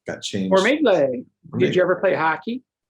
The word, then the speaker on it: Formigle: It's technically pronounced Formigle. It's an Italian name that doesn't look Italian. It should end in an I. Got changed. Formigle.